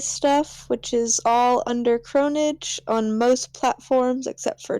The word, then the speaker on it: Cronidge: Yeah, I don't really have much other than my cosplay stuff, which is all under Cronage on most platforms except for Twitter, which is just cronage.cos, C-O-S. It's spelled CRONIDGE.